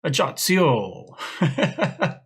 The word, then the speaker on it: Ajaccio: It sounds more Italian to me, but I've Googled it, I've looked, I've done the pronunciation guides. It's Ajaccio.